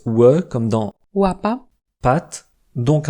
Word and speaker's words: łapa: Il se prononce WE comme dans Łapa, pat, donc un son qu'on aurait envie d'écrire avec un W en français, sauf qu'en polonais le W se prononce V comme en allemand.